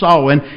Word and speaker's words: Samhain: the Catholics got hold of it was called solving it looks like Samhain it's pronounced Owen it is the second-highest day of the satanic